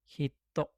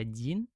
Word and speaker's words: 人: Kunyominya pakai hiragana. Ingat, kunyomi pakai hiragana ini hito. Onyominya pakai kata kana dia bisa dibaca jin atau bisa dibaca nin.